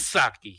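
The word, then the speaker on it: Psaki: and please no calls i know her name uh is has a silent p in it i just prefer to use the pp yes saki because i don't respect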